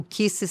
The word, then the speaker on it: Kicis: O Kisses se escreve K I C I S. Não é beijinhos.